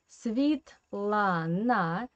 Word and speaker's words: Svetlana: Pay attention here again to the Russian phonetic system, because Svetlana, the first syllable is a non-stressed position. That's why this E we pronounce as I.